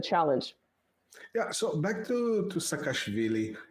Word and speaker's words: Saakashvili: Yeah, so back to Saakashvili. It's not Saakashvili, it's Saakashvili, or something like that. Well, I pronounce it in sort of the Russified way. Sorry, Georgians. I say Saakashvili because it's like that double.